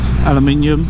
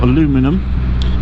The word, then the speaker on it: aluminium: notice all the uh aluminium or aluminum and the reason why us brits and us americans pronounce that differently is quite literally because they're spelt differently um and what happens